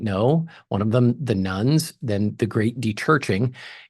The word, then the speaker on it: nones: me about this because she thinks when I'm talking about the nuns I'm talking about some Catholic sisters but it's not spelled like that it's the n o NES people who say when